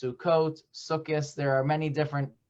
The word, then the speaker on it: Sukkot: So the first thing is the holiday of Sukkot, as we know, is pronounced Sukkot, Sukkot.